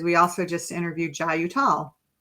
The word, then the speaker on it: Uttal: We were, in our Blue Soul Summit series, we also just interviewed Jai Uttal. Uttal, not Uttal.